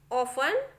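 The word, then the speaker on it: often: देखिए ये जो लिखा है वो castle, Christmas, listen, ऑफन, we shall, इस तरीके से आपको पढ़ना है। टी को बिल्कुल भी नहीं पढ़ना है, यहाँ पे टी साइलेंट होता है।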